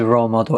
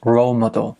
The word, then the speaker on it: role model: So role, we can use this in the speaking test, the writing test, and the pronunciation is role model. Stress on the first syllable.